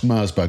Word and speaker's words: Mersberger: And I'm very very pleased to welcome Mersburgger. Am I saying that correctly first? Because I don't want to get your pronunciation wrong.